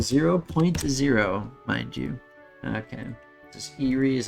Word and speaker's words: Eyrie: a good old 0.0 mind you okay this Erie is how you pronounce that although my kid self always said